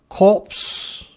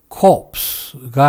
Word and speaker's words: corps: corpse, corp, corpse가 아니라 core, corp, corpse라고 합니다. core, Corp. Corpse. core, Corp. corpse, 이 말은 S가 전혀 발음되지 않기 때문에 뜻이 전혀 다른 말인 core와 발음이 똑같습니다.